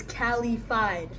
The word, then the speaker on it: Calified: But yes, this is Oh, also the way to pronounce my name, my artistic name is Calified. Caliified. Like simplified. Calified.